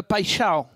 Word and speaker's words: Paixão: Et commencez à prononcer, à vous entraîner sur le Paixão, le brésilien. Paixão. Vas-y Pascal. C'est important. Paixão. Ah ouais. Non, il n'y a pas de i après.